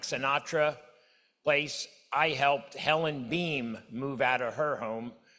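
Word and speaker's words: Boehm: It's B-O-E-H-M, but it's pronounced Beam.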